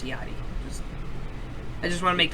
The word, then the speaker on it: Lil Yachty: guys I do know his name is pronounced iottie I just want to